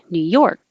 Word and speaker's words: New York: The stress is on York. New York. And you don't have to release the K. New York. Just hold it there.